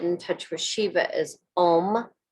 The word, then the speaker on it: Om: i'm gonna say it and then i'm gonna spell it the mantra to get in touch with sheba is om o m nama n a m a y